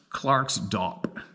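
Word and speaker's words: Klerksdorp: a couple hundred clicks clerksdorp pronounced Clark's dop who would have guessed that pronunciation my best girlfriend Lee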